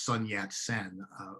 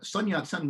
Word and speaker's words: Sun Yat-sen: china is on who's normally known in english as sun yat sen which is vaguely modeled on the uh cantonese pronunciation of his name and uh whatever your